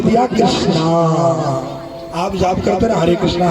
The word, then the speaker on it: कृष्ण: का आवाज नहीं आती कृष्णा नहीं है कृष्णा कहोगे तो द्रोपदी का नाम आ जाएगा हरे कृष्ण हरे राम